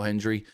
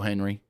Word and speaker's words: Hendry: I don't get the whole Michael Cole being so over the top for Joe Hendry, especially since he can't even say his name right. He calls him Joe Henry every time just like Jordan Grace does.